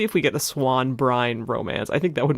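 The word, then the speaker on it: Bryne: of the compulsion uh we're getting Gareth Brin but they're pronouncing it bran okay Gareth Brian I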